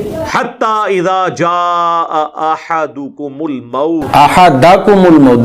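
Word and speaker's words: أحدكم: حتی اذا جاء احدکم الموت حتی اذا جاء احدکم الموت حتی اذا جاء احدکم الموت احدکم الموت، دال کے اوپر زبر پڑی جائے گی، احدکم الموت احدکم الموت۔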